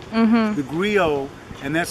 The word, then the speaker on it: griot: Remember, our storytelling tradition goes back to the African griot. Mm-hmm. The griot, and that's spelled G-R-I-O-T, was the...